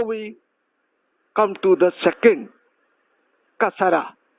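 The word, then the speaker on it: كسرة: Now we come to the second, kasara. Kasara is like in, I, in. The word in, so what is I? How it pronounced, this is kasara. Like the under sound.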